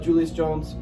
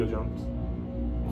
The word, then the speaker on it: Julio Jones: Yeah, but- Tennessee's been on a hot streak lately, even without Julius Jones and Derrick Henry. Julio Jones.